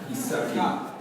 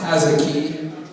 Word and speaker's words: Hazaki: No, my name is not pronounced Isaki. Thank God. It's pronounced Hazaki, like has a key for the door.